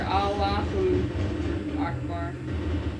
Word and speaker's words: Allahu Akbar: When they say it like that, they're Allahu Akbar. Allah Akbar! Yeah, there you go. Oh yeah, you want to get it perfected before you bring it out. Pronounce the U, man.